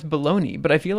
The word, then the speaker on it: Bologna: in the us um bologna i think yeah i think that's how most that's how it should be pronounced i guess but my bad i'm just an uncultured swine um uh hence why i was calling it baloney anyway um what do